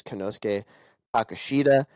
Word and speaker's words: Konosuke Takeshita: Yes, Konosuke Takeshita.